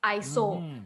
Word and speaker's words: ISO: it comes from a greek word means equal iso so it should be pronounced as iso equal so yeah correct so